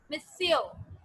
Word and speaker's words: monsieur: We pronounce it as monsieur.